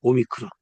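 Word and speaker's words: ο: 오미크론. 읽을 때. 그리고 발음은 뭐예요? 오가 되겠죠. 오. 오. 발음은 오예요.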